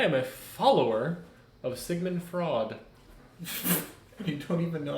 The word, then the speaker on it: Freud: I am a follower of Sigmund Freud. You don't even know how to say his name. No. Not Sigmund Freud. Sigmund Freud.